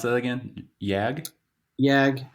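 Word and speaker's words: Jagd: Yag. Yag. It's really Yak. If you go like if you want to say it like German way, what What it translates to is Yak in German is hunt, so it's the hunting Oh, terrier.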